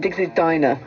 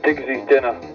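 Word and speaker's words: Digsy's Dinner: Is it Diggs's Dinner or is it Diggs's Diner? It's Diggs's Dinner. If Chris Moyles could be bothered to learn the English language and look it up in the dictionary, dinner is spelled D-I-N-N-E-R, diner is spelled with one N.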